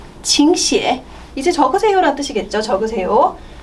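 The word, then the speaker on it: 请写: 그래서 들어오세요 칭찐 앉으세요 칭쪼 적으세요 칭시에 네, 삼성이 있어서 이성으로 발음했습니다. 칭시에 그리고 읽으세요 삼성 내려갔다 바로 이성으로 올라갈게요.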